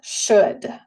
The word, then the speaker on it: should: Practicamos una vez más pronunciar esta palabra. Should. Otra vez no se pronuncia la L. Should.